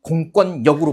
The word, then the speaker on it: 공권력: 니은과 리을이 만났을 때 비음화가 일어나는 경우가 있어요. 그래서 결단력 같은 게 대표적인 예인데 결단력은 결단력으로 발음합니다. 그래서 넘겨봤더니 공권력은 공권력으로 발음합니다.